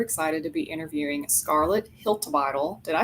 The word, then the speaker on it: Hiltibidal: I'm your host Katie Gin, and today I'm super excited to be interviewing Scarlet Hiltle.